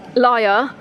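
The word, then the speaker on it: lyre: this is interesting cuz it's spelled l i r a but I think it's actually the uh the LIE um liar um so Apollo used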